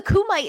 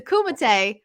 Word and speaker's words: Kumite: I've heard so many people pronounce it wrong. A lot of people being like, "Oh, the Kumite is on tonight." But let's set the record straight. It's the Kumite.